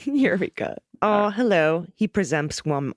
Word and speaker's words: Eureka: all reside near Eureka this is correct not y Riga not Yreka Eureka oh hello he presents